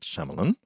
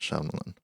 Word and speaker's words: Shyamalan: 14th directed by Night shamalan M night shamalan not M Night Shaman isan KN Shon Shon